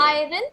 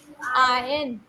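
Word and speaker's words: iron: written क्या लिखा है दिस इ नट आयरन दिस इ आयन व्ट इ इट आयन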